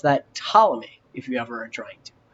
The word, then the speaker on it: Ptolemy: geocentric system was this guy and you can pronounce that Ptolemy if you have our joint so you don't